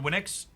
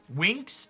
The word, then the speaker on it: Winx: Fate The winix Chronicles I'm sure I'm pronounced it we brought it up last time that I was pronouncing that wrong Winks is it Winks I think someone said it was the Winx Chronicles pretty typical Magic School